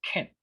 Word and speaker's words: can: La forma positiva se pronuncia can. It's a short sound.